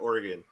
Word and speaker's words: Oregon: the middle of oregon but we pronounce it oregon yeah but where are